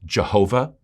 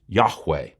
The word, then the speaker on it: Yahweh: it was YH wh Scholars used to think that it would be pronounced Jehovah so if you ever heard the name Jehova for God that's why but we now know that Jehovah was not how it was pronounced the closest we can make of the actual name in light of the missing vowels is that it was actually pronounced Yahweh God said my name